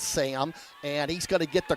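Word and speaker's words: Syam: is their leading rusher s-y-a-m but pronounced sam and he's gonna get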